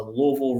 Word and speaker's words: Louisville: right now there's a Louisville regional office I'm saying Louisville because that's how you say it that's where I'm from